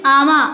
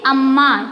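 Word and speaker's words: అమ్మ: We are not, if you are not taking, this is ama. Ama is the correct word? No, that is amma.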